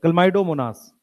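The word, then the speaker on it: Chlamydomonas: देखो इसको ऐसे पढ़ते हैं, क्लमाइडो, लास्ट में मोनास, एक ही नाम है साथ में, ऐसे याद करते हैं, क्लमाइडोमोनास, क्लमाइडोमोनास। ठीक है, क्लियर।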